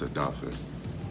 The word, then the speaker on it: Odafe: Just want to let you know how to say it. It's Adafe. Nothing but love, but that's how you pronounce it.